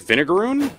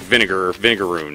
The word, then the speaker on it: vinegaroon: there's my groon actually it's actually pronounced i think it's like vinegaroon because uh whipped scorpions can uh expel this stuff that's kind of that's like semi-caustic and kind of vinegary so it's like vinegar vinegaroon you know no don't